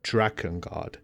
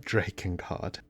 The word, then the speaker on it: Drakengard: The correct pronunciation is Dragon Guard, not Draken Guard.